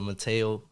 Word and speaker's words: Mateo: My boy Mateo. Mateo, right? That's how you say Mateo, yeah.